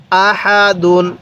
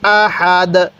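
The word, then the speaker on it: أَحَدٌ: আমি পূর্বে বলছিলাম ওয়াকফের সময় শেষ হরফের মধ্যে দুই পেশ থাকুক, দুই জের থাকুক, দুই জবর থাকুক, আমরা বাদ দিয়ে দিব। তাহলে এই জায়গার মধ্যে দুই পেশ আছে, আমরা দুই পেশকে বাদ দিয়ে দালের উপর জজম দিছি। তাহলে কিভাবে পড়ব? আহাদ, আহাদ।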